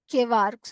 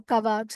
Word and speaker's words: kwargs: So that is the reason why it's known as kvarks or kavarks. However you want, you can pronounce it.